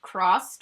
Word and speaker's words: CRSSD: The first shade is called CRSSD, but I believe it's supposed to be pronounced like crossed or cris- crossed.